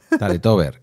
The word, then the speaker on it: Taletober: Para los que hicisteis como yo, la EGB se escribe tale, ¿vale? ¿Verdad? Tale tale tale taletover con B.